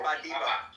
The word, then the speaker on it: Badebo: Can you pronounce ba? Ibo. Say ba. Yeah, ba. Badebo. Is it Badebo? Yeah. Yes. In any way, you guys are really trying.